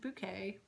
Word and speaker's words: Bucket: a lady who um her name's hyacinth bouquet but her last name is spelled bucket um and she has